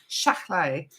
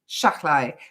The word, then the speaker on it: Shahlaei: So it's Shahlaei. It's, Laurence Shahlaei. Shahlaei.